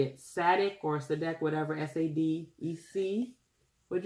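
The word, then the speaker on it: Sadec: how you say it, Sadek or Sadek, whatever, S-A-D-E-C. What'd you say? Sadiq. Sadiq. My daughter says it's Sadiq.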